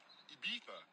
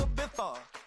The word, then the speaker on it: Ibiza: I just went to Spain, that's a Ibiza. Ibiza. Yeah, it's pronounced Ibiza, actually. What's the difference, man?